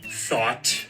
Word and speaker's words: though: means this word is thought which means this word is th no it's though you don't see how oh